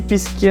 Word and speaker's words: Піски: в Україні українські Піски тут кстаті наголос на с олешківські Піски Ну я чу чуть-чуть